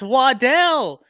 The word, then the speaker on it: Waddle: Unstoppable oh man Jalen waddle best draft moment is when Jalen waddle was drafted I don't know if y'all remember his family stood up and said it's Waddell everybody's been mispronouncing his name the entire time it